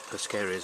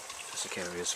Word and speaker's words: Persicarias: The salvias are growing in there, Persicarias are growing in there, Persicarias rather, I mispronounced this as you know from previously.